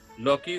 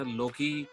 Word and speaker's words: Lockie: मैं कहता लोकी Ferguson, but नाउ इट इज यू are saying it इज लॉकी.